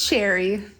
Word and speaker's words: Shari: do I how do I say right it's Sherry Sherry it's spelled like shie pronounced like Sherry okay so